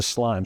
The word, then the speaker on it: SLME: cost of goods right if you can get this acronym, SLME, with what looks like an I in the middle to help us pronounce it, into slime.